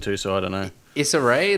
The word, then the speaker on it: Issa Rae: Issa Rae, that's how you pronounce her name.